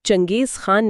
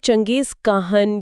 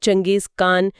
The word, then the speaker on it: چنگیز خان: جی۔ منگولیا میں آج بھی اس کا نام چنگیز خان نہیں بلکہ چنگیز کاہن یا چنگیز کان جیسے تلفظ سے لیا جاتا ہے۔ اچھا، کاہن، اس کا کیا مطلب؟